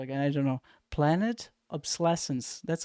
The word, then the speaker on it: obsolescence: Obsolescence.